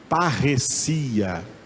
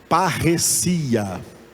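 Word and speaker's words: παρρησία: Aquela palavra lá, que está escrita com letras em português embaixo, é uma palavra grega que se pronuncia, diga depois de mim, parresia. Ok? Já estão falando em línguas estranhas, então diga aí, parresia.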